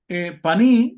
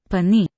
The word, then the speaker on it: paní: la siguiente palabra, que ahí pone panay, pero que se pronuncia paní, exactamente igual, y que